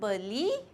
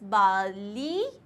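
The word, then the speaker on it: barley: सो बार्ले जो होता है, इट्स नॉट बार्ले, इट इज़ बार्ली, बार्ली. Okay, then we have this.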